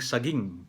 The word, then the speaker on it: saging: Ang saging, yung first syllable ng A, yung first syllable, yung A, uh, long vowel yon. Kasi kung hindi kung isusulat na hindi long vowel yon, magiging saging, di ba? So kailangan long vowel para saging ang pronunciation, di ba?